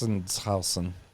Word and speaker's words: Sachsenhausen: I'm not going to try to pronounce that because it looks. Sachsenhausen.